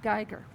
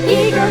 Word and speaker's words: Giger: book says her name's pronounced Giger, not Geiger. What? No, I have always said it that way. We can fix it, right? I mean, there have to be some other words that rhyme with Giger.